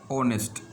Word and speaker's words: honest: जैसे honest start with h, that is consonant letter, but we pronounce it as honest, being s silent, and we use an honest there.